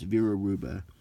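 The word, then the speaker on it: Vera Hruba: When pronouncing, drop the H, so it's Vera Ruba.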